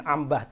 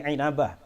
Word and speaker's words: Inabah: kelima Ibnu inabah inabah inabah bahasanya Bacanya jangan Ambah tapi inabah wafat 828 Hijriah dalam